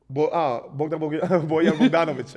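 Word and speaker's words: Bojan Bogdanović: Bojan Bogdanovic.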